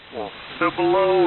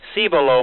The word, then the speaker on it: Cibolo: a number of ways see below might be a little bit more correct in terms of the spanish but uh that's about